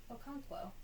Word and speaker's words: Okonkwo: Okonkwo. Oh, It's just like it's spelled.